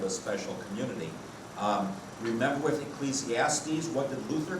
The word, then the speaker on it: Ecclesiastes: So we have Ecclesiastes, which some people wrongly pronounce Ecclesiastics.